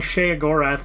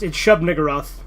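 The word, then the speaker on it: Shub-Niggurath: I like how you're like saying Shea Gorath, basically like the fucking Elder Scrolls character. Yeah, it's Shub Niggurath. Which is always funny to say. Because there's the second and third syllables.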